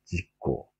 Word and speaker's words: 事故: 다 지로 발음이 되죠. 직겐, 직고.